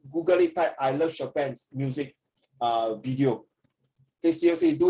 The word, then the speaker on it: Chopin: It's pronounced Chopin. Isn't it pronounced Chopin? Ah. Sorry again? Isn't it pronounced Chopin? Oh, Chopin, correct. Chopin. Yeah, Chopin, not Chopin. Chopin. That is a French word pronunciation.